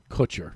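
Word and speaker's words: Kutcher: Ashton Coocher is the uh Did I say it right? Koocher.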